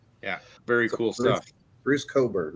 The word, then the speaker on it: Cockburn: very cool stuff Bruce Coburn right yeah yeah yeah it's spelled cockburn but is pronounced Coburn I'm not writing cockburn